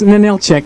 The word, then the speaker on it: Ninilchik: the local place names like Ninilchik and Kenya. And it's Ninilchik and Kenai.